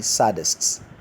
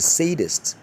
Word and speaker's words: sadist: analysis si di SC you hear people say saddest saddest wrong the correct rendition of that word the sadist sadist that man is